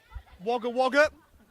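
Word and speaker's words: Wagga Wagga: kly salmon who's from wagger wager and that's one if you're not sure how to pronounce it it doesn't read as it would say and that goes over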